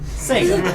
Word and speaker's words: Sega: I always prefer the zega Dreamcast how did you pronounce that zga zga Sega Sega zga Dreamcast I I know